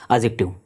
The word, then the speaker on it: adjective: रहा है एडजेक्टिव है एडजेक्टिव नहीं बोलना क्या होता है इसका प्रोनंसिएशन एडजेक्टिव डी साइलेंट होता है नेक्स्ट सेंटेंस देखिए विल